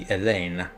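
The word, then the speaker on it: Hélène: Because spelled that way, that's French, isn't it? So you don't actually pronounce the H, it would be Helene.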